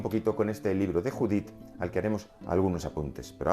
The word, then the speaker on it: Judit: un cierto carácter anglosajón judith no es judith como jonás jonás como job es job